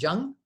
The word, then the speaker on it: Jung: you're saying that Freud and how do you pronounce it Jung yeah calcium and Jung thought everything is motivated